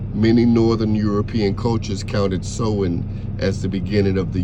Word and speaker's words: Samhain: Samhain, pronounced Samhain, and called Halloween today, was also known as Ancestor Night or Feast of the Dead.